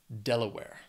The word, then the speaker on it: Delaware: states next is Delaware has three syllables stresses on that first syllable Delaware I don't know anything